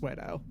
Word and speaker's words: Guido: Spelled like pseudo, but swap the E and U, and it is pronounced Guido.